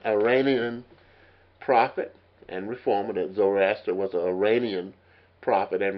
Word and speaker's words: Zoroaster: And the founder was, of course, Zoroaster, as they call it. And it's right, it's spelled S-O-R-O, like Zorro, and then A-S-T-E-R. Zoroaster was the founder of Zoroasterism.